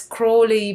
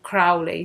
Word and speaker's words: Aleister Crowley: -sometimes also pronounced as “Crawly” by American people but I will stick to the British pronunciation Crowley since he was British.